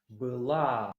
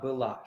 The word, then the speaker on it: была: You remember that o in a syllable that is not stressed is pronounced like a. That is why we have она была. You see, its stress is here. Она была, she was.